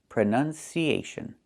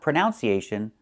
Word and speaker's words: pronunciation: So the two first vowels are the same sound. Uh u prn closed and relaxed. Pron pronunciation not pronunciation. The verb is pronounce. You pronounce the word this way. You pronounce the word that way. But the noun is pronunciation with a short uh sound. Uh uh prren pronunciation. Don't say pronunciation.